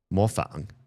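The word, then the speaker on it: 模仿: I guess in English you could just say Mofang, and it works out.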